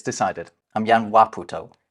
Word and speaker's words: Waputo: In Tokipona, you always stress the first syllable of a word. That's why it's Waputo, not Waputo.